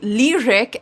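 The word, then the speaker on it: Lyriq: uh quite impressed with a device called the lyric l y r i q as it's spelled here a text to speech reader or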